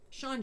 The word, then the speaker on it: Sean: Sean, John. That sounds like... I told you not to name him Sean because it rhymes with John.